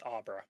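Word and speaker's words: Obra: A I thought it was Aubra yeah it's Aubra Aubra how is that spelled o b r a the summer one's name is spelled oo no just Oro I know I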